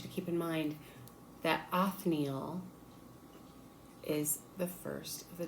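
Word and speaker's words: Othniel: And I want you to keep in mind that Anneil is the first of the judges. His name is spelled O T H N I E L. Anneal.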